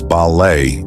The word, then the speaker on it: ballet: ballet is pronounced as balet in English with a silent T following the French pronunciation however some subtle changes